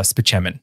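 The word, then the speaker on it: Spaceman: in 30 Rock uh Dr uh speman but it's spelled like space span yeah Dr Leo SP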